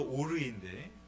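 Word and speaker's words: עור: 그래서 하나님께서는 아담과 하와에게 가죽 옷을 지어 입히셨는데, 가죽은 히브리어로 오르인데 그 발음이 빛을 가리키는 히브리어 오르와 똑같습니다.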